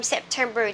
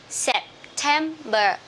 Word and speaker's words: September: Okay, remember from from September to December, we will stress at the second syllable. Okay, so September, October.